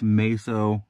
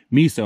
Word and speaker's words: MESO: is you do have this meso or sorry miso i keep saying it wrong you have this miso